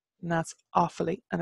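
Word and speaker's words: Uíbh Fhailí: changeable so we're gonna go from Claire to awfully and that's awfully and it's named after its who've all named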